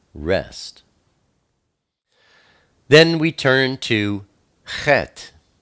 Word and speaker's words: Chet: Then we turn to Chet. Chet is the number 8, and it's pronounced that's a guttural sound, like Ruach.